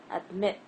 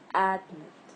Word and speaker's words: admit: I'm stressing the second part, and here I'm also stressing the second part. So it's admit, not admit.